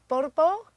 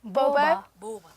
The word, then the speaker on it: ቦባ: Now, this band is called Borbo. Is that how you say it? Boba.